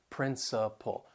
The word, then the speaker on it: principle: words sound the same so they have three syllables the stress is on the first syllable that second and third syllable you'll hear that schwa sound principle principle so these words